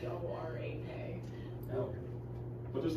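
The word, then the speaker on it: Dvořák: It's Dvorak.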